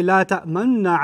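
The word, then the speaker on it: لا تأمنّا: And then they say, La ta'manna ala Yusuf. This is I squeeze my lips as I said la ta'manna like that, because that's the pronunciation rule in Hafs.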